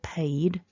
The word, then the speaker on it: paid: past simple and past participle paid so we need to have a vibration in the throat there for the paid paying has that in